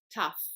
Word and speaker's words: tough: English learners so it's not pronounced to' it's pronounced tough the next word is the word Q and